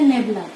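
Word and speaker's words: nabla: ये जो ऑपरेटर है इसको कहते हैं नेबला। ठीक, इसको नेबला प्रोनाउंस करते हैं हम लोग इस ऑपरेटर को।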